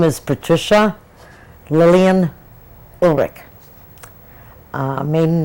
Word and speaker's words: Ulrich: hello could you tell me your name and spell it for me okay my name is patricia lillian ulrich maiden name is patricia p-a-t-r-i-c-i-a lillian named